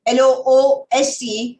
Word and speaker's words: loose: the z sound lose the other one l-o-o-s-e has got the c sound loose the two things are